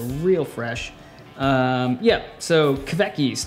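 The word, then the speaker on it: kveik: so real fresh um yeah so keveki's that's a norwegian fight kaviki's actually is what's how you pronounce it uh that yeast ferments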